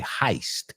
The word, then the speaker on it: heist: Ok, heist. Es raro, se escribe H-E-I-S-T, pero se pronuncia heist.